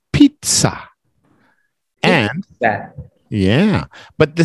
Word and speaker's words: pizza: In Italian, the S's sound like Z's and the Z's sound like TS in Italian.